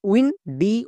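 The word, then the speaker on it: window: জি এল ও W glow W আই এন উইন ডি ও ডব্লিউ ডো উইন্ডো ওয়াই E double L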